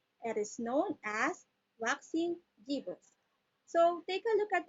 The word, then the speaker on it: gibbous: The pronunciation of this is Gibbous. J-G, Gibbous, not Gibbous. It's Gibbous.